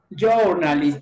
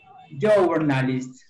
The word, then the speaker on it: journalist: Jornalista se escribe, pero ¿cómo se pronuncia? Marimar, ¿cómo se pronuncia? ¿Jornalista? Journalist, muy bien. Se pronuncia de este modo. Journalist.